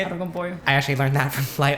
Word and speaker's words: arroz con pollo: Yeah, and I also remember like hearing about the term oro con pollo. Is that how you say it? Arroz con pollo.